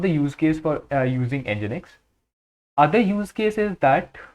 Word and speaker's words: Nginx: One of them is Nginx, and it is pronounced Nginx.